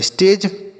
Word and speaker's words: stage: क्यों, अगर ए के बाद बच्चों एक अक्षर छोड़ने के बाद ई लिखा रहता है तो इस ए का उच्चारण ए की मात्रा हो जाता है। ठीक, जी से बनेगा आपका ज, और ई का उच्चारण नहीं होगा।